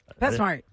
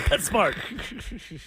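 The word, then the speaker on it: PetSmart: I THOUGHT IT WAS PETS SMART. I feel so stupid. You could say it any way you want. Nope. I'm saying it wrong. Pets smart. Stupid. It's all one way. Pet smart.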